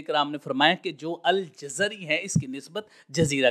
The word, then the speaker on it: الجزری: جزیرہ کی طرف ہے۔ الجزری کا تلفظ ہم نے عرض کر دیا ہے کہ جیم کے اوپر بھی زبر ہے، را کے اوپر بھی، جیم کے اوپر اور زا کے اوپر زبر ہے، اور جو اس کے